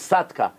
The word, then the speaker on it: Saddam: yeah of course but Sadam Sadam the Iraqi like ra satka his name is sadka that's how they pronounce it so what happened so